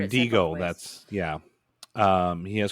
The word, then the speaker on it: Wendigo: Um, so this also has crossover into the Wendgo. Is that Did I say that right? Wendigo. Wendo. Um, into that Wendiggo. I think I pronounced Wendigo.